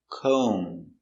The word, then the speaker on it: comb: is combing her hair combing no B she's combing her hair comb c o make a long o co M comb comb do you have a